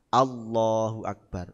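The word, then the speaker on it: الله أكبر: itu jadinya O jenengan kalau takbir salat bagaimana O Allahu Akbar yang banyak Nggih yang banyak Allahu Akbar itu O apa a ya O wong o kok Allah o Allahu akbar Jadi bukan a ng Allahu akbar mestinya gitu Allahu akbar A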